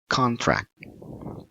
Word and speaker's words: contract: So, we pronounce it with a correct stress word will be contract. Contract. Tidak contract. Contract. See the differences ya. Simpannya di con penekanannya. So, contract.